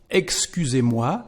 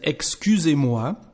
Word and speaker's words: excusez-moi: And excusez-moi, the sound of the letter S here is like a Z actually in French, like a Z, because we've got two vowels, one before, one after.